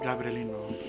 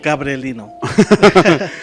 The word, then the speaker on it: Gabrielino: By the way, it's pronounced Gabrielino. Gabrielino.